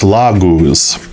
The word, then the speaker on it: Laguz: Yeah, it's Laguz.